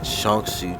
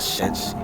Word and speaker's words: Shaanxi: Second, Mount Hua was located in Shaanxi, China, not Shenxi.